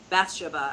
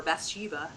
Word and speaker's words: Bathsheba: So just very pastoral feeling, and the protagonist in this, Bathsheba, as the British would say, or Bathsheba, as Americans say it, I don't like her, and I still adored this book.